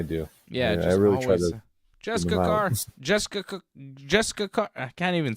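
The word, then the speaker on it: Jessika Carr: right but every time they say it it sounds like Jess kakar so she's Jess kakar well you listen to commentary more than I do yeah Jess car Jessica Jessica car I can't even say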